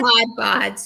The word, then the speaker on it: Mod Podge: Mod Podge down. Am I saying it right? Mod Mod Podge.